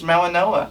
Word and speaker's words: Mauigoa: Next up, we have Francis Mauigoa. That's how you pronounce it. That's not how it looks, but he's Hawaiian, I think.